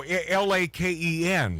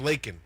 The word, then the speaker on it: Laken: No, L-A-K-E-N. But it's pronounced Laken.